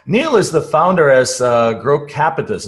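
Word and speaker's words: Grocapitus: So Neal is the founder as Grow Capitus. Is that how you say it? Grow Capitus? Grow Capitus, that's right.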